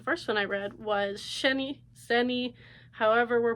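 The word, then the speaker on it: Xeni: one I read was sheny zeni however we're pronouncing it my brain automatically wants to pronounce it the Chinese way with an X but I think it's zeni but this is one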